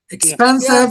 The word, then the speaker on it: expensive: Here the second syllable is stressed. Expensive.